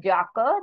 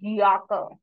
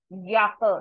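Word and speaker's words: Jacke: it as y but if we say it in word the sound will be y so this is not jaka this is yaka yaka yaka means ja yaka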